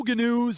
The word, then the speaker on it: GNU: The news segment on the children's program The Great Space Coaster always contained the catchphrase, "No GNUs is good GNUs with Gary GNU." Gary, don't pronounce the G's.